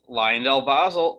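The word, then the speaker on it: LyondellBasell: you it could we'll see if it is lion delbasel ticker symbol l-y-b after all these videos i finally learned how to pronounce their name correctly it's about time so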